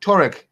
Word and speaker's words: Tuareg: How do you pronounce it, Michael? Tuareg.